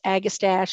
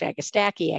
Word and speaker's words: Agastache: And I've heard it pronounced agastache, agastache, agastache, and purple coneflower.